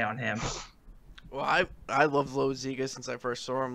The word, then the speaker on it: Loaisiga: When we're talking about starting pitching, the guy who took Chef's place in Trenton was Jonathan Loaisiga. And, he... That's Loaisiga. Sorry, Loaisiga.